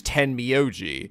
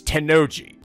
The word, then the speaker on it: Tennoji: Also, I kept pronouncing Tennoji wrong. I was pronouncing like I did the guy from the Zero Escape series, Ten Miyoji. But no, this is Tennoji.